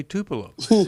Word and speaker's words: Tupelo: called and how about we talk with Deborah Tupelo Mississippi now I might have gone to Deborah just because I wanted to say Tupelo but uh Deborah welcome to New Life live